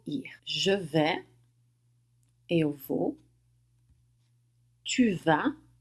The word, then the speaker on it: tu vas: Tu vas, você vai, sem pronunciar o S no final.